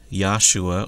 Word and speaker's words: Yahshua: The name Joshua in the Hebrew actually is pronounced Yahshua or Yahshua in the Hebrew.